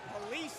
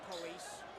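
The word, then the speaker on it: Palessee: Bland almost stripped by Police. That's P-A-L-E-S-S-E-E, by the way, not the way you're thinking it's spelled. Like, think of saying police.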